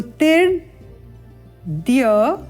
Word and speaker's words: अदितिर्द्यौ: अब यहाँ जब उच्चारण होगा तो कैसे होगा, ये जो रेफा है ये इस ती के साथ उच्चारित होगा और तदुपरांत द का उच्चारण, तिर्द्यौ, इस प्रकार उच्चारण स्पष्ट करते हुए आगे चलते हैं। अदितिर्द्यौ रदिति रंत ऋक्ष, क्ष का उच्चारण ध्यान देंगे।